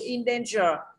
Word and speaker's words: indenture: Indenture là gì? Có âm R đấy. R, âm R này không nhận trọng âm rồi. Đúng không ạ? Âm in. Âm in kia là âm tiền tố, có nhận trọng âm không? Không nhận trọng âm, đúng không ạ? Âm in này không nhận trọng âm rồi. Âm R không nhận trọng âm thì sinh ra âm trên này phải nhận trọng âm.